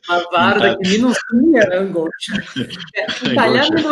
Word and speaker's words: angoscia: até bonita de falar, angoscia, né, que fala em italiano, angoscia, né, certo, né, a pronúncia é essa mesmo.